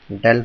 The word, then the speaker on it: del: The value of or we can write del del, it is del, pronounced as del is equals to I